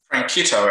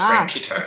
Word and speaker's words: Franchitto: Franchitto, actually. It's a CH is solid, not a soft CH. So it's Franchitto.